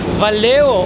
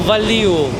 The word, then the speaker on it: Valeu: Я хочу выяснить, правильно ли я произношу это слово. Это Валео или Валиу. Валеу, Валеу.